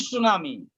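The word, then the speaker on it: tsunami: तो सुनामी, लेकिन सुनामी शब्द का ही प्रयोग करते हैं, अतः अंग्रेजी शब्द में भी उच्चारण में, प्रोनंसिएशन में साइलेंट है, इसलिए यहाँ भी हम आप साइलेंट कह के उसे सुनामी कह सकते हैं।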